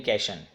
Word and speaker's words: cation: Negatively जो charged हैं उसको कहा जाता है एनायन, और जो पॉजिटिवली चार्ज्ड हैं उसको कहा जाता है कैटायन। एनायन, कैटायन। Some peoples are also pronounce as एनियन, कैशन, एनियन एंड कैशन।